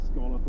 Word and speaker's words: scallop: The ancient harbor town of Rye on the south coast has a soft spot for the scallop or scolop or however you wish to pronounce it.